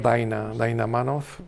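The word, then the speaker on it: Dinah Manoff: actriz de primer nivel yo creo que se debe pronunciar daina daina manov pero es escrito Din Dina manov y emet Walls voy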